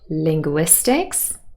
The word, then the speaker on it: linguistics: they're studying linguistics so that word Linguistics Linguistics stressed on the third syllable would receive their main